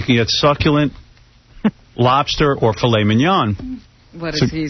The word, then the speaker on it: filet mignon: how about tenderly aged filet mignon? Dick, you're an asshole. You don't say. How do you say it? Mignon? Filet mignon. That's how you say it.